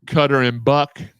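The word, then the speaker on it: Cutter & Buck: the the new camo pullover I got from cutter and buck that's how you say it I promise it's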